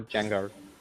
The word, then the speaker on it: Django: Or Django. I just realised the C is silent, as it even says in the trailer.